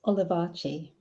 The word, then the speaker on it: Olivacce: i need to your surname how do i pronounce that again um it's olivarti alibachi okay is that italian everyone says everyone asks